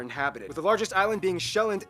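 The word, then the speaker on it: Sjælland: the largest island being showand not zealand which is not to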